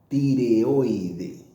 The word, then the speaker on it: tireoide: Como curiosidad, tiroide en portugués se pronuncia tireoide.